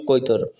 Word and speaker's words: কৈতর: শাহজালাল ইয়ামানী রহমতুল্লাহ আলাই সিলেট আগমনকালে দিল্লি থেকে আসার সময় নিজামুদ্দিন আউলিয়া প্রদত্ত একজোড়া কবুতর, সিলেটে উচ্চারণ হচ্ছে গিয়ে এটার নাম কৈতর, সঙ্গে আনেন।